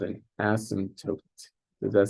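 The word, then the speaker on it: asymptote: equal 0 is and asot there's a p in there but you don't pronounce it unless incorrectly as you're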